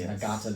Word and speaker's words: Ngata: I have an N on there. Everybody says Ngata. The N is silent.